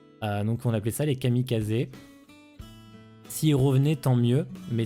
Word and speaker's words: kamikaze: On pense notamment à la phase de la Seconde Guerre mondiale avec la naissance des kamikazes. Parce que ça se prononce kamikaze à l'origine et pas kamikaze.